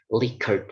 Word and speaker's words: Likert: out that there is only one way to pronounce this word licker scale okay let's go to the next uh